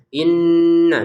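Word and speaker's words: إنّ: Inna dua harakat saja. Inna jangan berlebihan, jangan kekurangan. Ya. Jadi kalau di dilebihkan in enggak boleh dilebihkan dari dua harakat ya. Lebih dari dua harakat tidak boleh. Cukup dua harakat.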